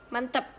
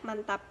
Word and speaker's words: mantap: Selanjutnya, contoh yang kedua adalah pada kata mantap. Dalam bahasa tidak baku, pengucapannya adalah mantep, sedangkan dalam bahasa baku, pengucapannya adalah mantap.